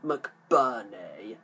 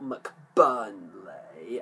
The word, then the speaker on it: McBurney: child actor abigail laurie simon mcburney not mcburnley as i have um incorrectly uh pronounced his name in the past um keely [ __